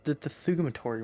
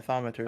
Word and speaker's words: thaumaturgy: Spell it for me. The thaumaturgy one. Oh, thaumaturgy? Yeah, thaumaturgy.